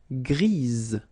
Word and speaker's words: grise: Gris, don't pronounce the S, but then for the feminine form, grise. Remember? Grise.